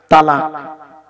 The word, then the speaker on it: তলাক: তালাক। শব্দটা বলে তালাক। শব্দটা তালাক নয় বাবা, শব্দটা হলো তলাক। কি বললাম? তলাক, তালাক নয়।